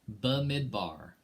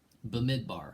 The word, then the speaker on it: Bamidbar: word in the first verse and here it's bamidbar bamidbar if i said it pronounced i took three semesters of hebrews so